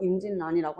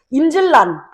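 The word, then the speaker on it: 임진란: 그리고 임진년에 일어난 임진 난 역시 우리가 발음할 때 어떻게 하는지 임진년에 일어난 난이라서 임진난이라고 합니다.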